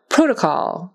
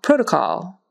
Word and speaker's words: protocol: like awah protocol protocol three O's three different pronunciations conventional conventional um conventional